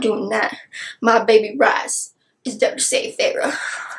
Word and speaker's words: Rhys: My baby Rise is there to save Feyre. Hey, by the way, I do know it's pronounced Rhys and Rysand, but I will ever and always know Rysand.